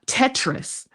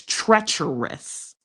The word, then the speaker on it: treacherous: It's not Tetris. That's a game. It's treacherous.